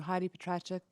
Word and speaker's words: Heidi Petracek: We'll move along to Heidi Petracek. Sorry if I pronounced your name wrong, from Global National.